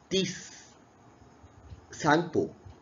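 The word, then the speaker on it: Tsangpo: Brahmaputra river when flows from China, then she having name of Tis Sangpo, and here T is silent.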